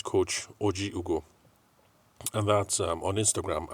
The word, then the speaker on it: Ojiugo: going to look at coach joo's bit sorry OG Ugo that's o j i u g o I've always called it Jugo and um anyway so she had correct me